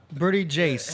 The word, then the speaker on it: Birdie Jace: Birdie Jace. That's how you pronounce it. Like a RZA flow to it, kind of.